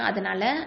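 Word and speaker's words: ت: அதனால நம்ம கண்ணாபின்னான்னு உச்சரிச்சிடக்கூடாது, கல்கலா எழுத்து மாதிரி உச்சரிச்சிடக்கூடாது. ஓகேவா? ஸோ இது எப்படி உச்சரிக்கணும்? அத், இத், உத் அப்படி தான் உச்சரிக்கணும்.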